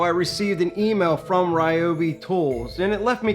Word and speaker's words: Ryobi: A couple days ago, I received an email from Ryobi Tools, and it left me confused. No, not because of the way some people pronounce their name. Remember, it's Ryobi, not Rioi.